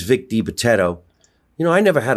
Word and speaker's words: Vic DiBitetto: And it's Vic DiBitetto. You know, I never had a hard time pronouncing his name.